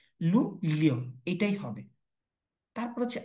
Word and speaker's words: Luglio: লু, লুগ্লিও নাকি লু লিও? তার মানে বেটার হচ্ছে কি লু লিও, এটাই হবে।